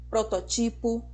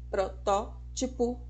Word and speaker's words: protótipo: forma diferente professora existe eu já ouvi e eu sei que vocês também pessoas falando de estereotipo prototipo E na verdade a pronúncia correta é com acentuação na anti penúltima sílaba estereótipo protótipo vermífugo fique sabendo que